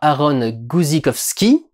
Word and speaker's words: Aaron Guzikowski: by words une série écrite et conçu par aaron guzikowski donc c'est comme ça que ça se prononce se passe sur une autre planète sur